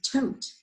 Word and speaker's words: tote: clue right there okay when we say the next word with an e at the end with a silent e it makes tot into tote boat tote so a